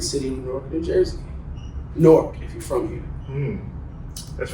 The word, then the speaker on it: Newark: Newark, if you're from here. That's right. We had another young gentleman talking about the pronunciation of the town that we were from, the brick city.